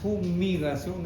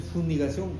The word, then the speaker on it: fumigación: Por si acaso el término es fumigación, no es funigación como algunos que pronuncian, fumigación, ¿no?